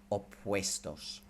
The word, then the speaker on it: opuestos: First of all, pronunciation-wise, that UE combination, think of it as W-A-Y, way, opuestos, okay?